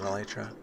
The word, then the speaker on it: elytra: I can't land well with an elytra. Or elytra, as it's correctly pronounced.